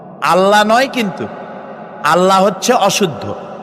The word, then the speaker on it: আল্লাহ: কি গুণাবলীতে বিশ্বাস আল্লাহর নাম আল্লাহ বলেন তো আল্লাহ নয় কিন্তু আল্লাহ হচ্ছে অশুদ্ধ শুদ্ধ হচ্ছে আল্লাহ